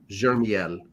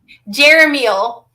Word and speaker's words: Jeremiel: Zadkiel, Gabriel, if I'm pronouncing that right, Jermiel. I apologize. I am not 100% up on all my archangels. Why not? Isn't this your job? Wow. Jeremiel.